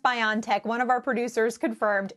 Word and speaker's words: BioNTech: I think it's pronounced BioNTech. One of our producers confirmed. Is that right? Are we pronouncing your company name right? Yeah, you can pronounce it as BioNTech or BioNTech.